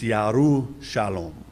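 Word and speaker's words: ירושלים: You don't pronounce the J in Hebrew. That's why Jerusalem is not Jerusalem, it's Yerushalom. Yerushalom, peace.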